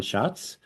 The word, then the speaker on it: Schatz: the I'm saying it with the correct Italian pronunciation and today we have a special guest Han Shotz from cut and dry and we're gonna talk